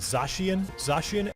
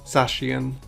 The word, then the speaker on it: Zacian: Are in fact legendary Pokemon of the Galar region, called Zacian. So the correct pronunciation is Zacian.